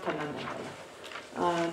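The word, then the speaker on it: དོན་དམ་བདེན་པ: In Tibetan, it's Tundam Demba, pronounced Tundam Demba.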